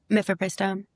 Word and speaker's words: mifepristone: Did I pronounce that correctly? Mifepristone.